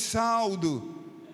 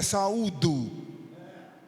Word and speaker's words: saúdo: e irmãs, eu vos saldo. Como é que fica o auditório? Eu vos saldo com a paz do Senhor. Se a pronúncia correta é saúdo, fica ruim, uma pessoa